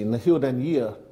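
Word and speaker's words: Na h-Eileanan an Iar: then firstly did that did I get the pronunciation of your constituency in the hill den year correct nearly a year absolutely correct I like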